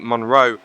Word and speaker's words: Monroe: no of course no it's a completely different spelling because it's spelled m o n r o eose your nor accent it sounds exactly the same yes it does because it's technically it sounds the same don't don't confuse me